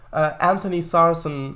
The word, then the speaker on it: Anthony Sarson: And Honey Sarson 2? Is that how you pronounce it? And Honey Sarson 2. If I'm mispronouncing that, or is it? Oh no, it's Anthony.